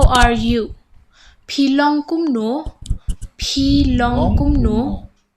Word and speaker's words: kumno: Shillong kumno. Pilong kumno. Okay. How are you? Pilong kumno. You pronounce it wrong. You're laughing, huh? Once again, say. Belong komnu. Kumno. K-U-M. Kum.